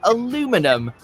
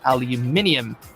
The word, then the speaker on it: aluminium: Americans might be right Humphrey Davy the British chemist who first created the elements wanted it to be called aluminum in line with other Alloys like Platinum but he had a lot of critics who wanted aluminium more like magnesium say it again say